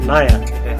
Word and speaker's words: Nair: if his name is Suresh how do you pronounce it nyah-nyah Suresh nyah I won't forget that because the word nya